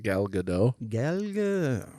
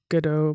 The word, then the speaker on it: Gadot: Which those guys are in a movie with Gal Gal Gadot. I think it's Godot. I think you're right. Yeah. Yeah, I don't think she likes the Godot pronunciation.